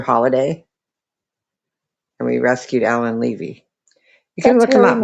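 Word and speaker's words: Leavy: Levy is how you say the name.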